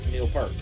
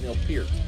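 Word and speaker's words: Neil Peart: I know it's wrong, but in my mind I think Neil Per, but it's Neil Pier. Yeah, that's how you pronounce it.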